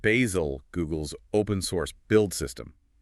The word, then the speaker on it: Bazel: And we absolutely have to mention Bazel, pronounced Bazel, Google's open source build system.